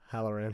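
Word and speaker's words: Hallorann: Harahan? Halloran.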